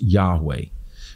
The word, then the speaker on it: Yahweh: we call in the in the king james version jehovah or probably more accurately in hebrew was pronounced yahweh now ancient hebrew didn't have vowels so we don't know the exact ancient pronunciation but the consonants yhwh also called the tetragrammaton the four sacred letters which as we say yahweh so the word god